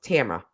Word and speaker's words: Tamra: still screwing it up she was like my name is pronounced tamra and i was like